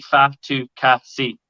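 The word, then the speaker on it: Fatukasi: as phonetic in phonetically it is literally fat to cassie i knew a fat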